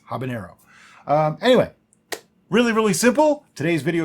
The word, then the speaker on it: habanero: By overwhelmingly popular request, Mango Habanero Capsicumel Mead. And the correct pronunciation is habanero.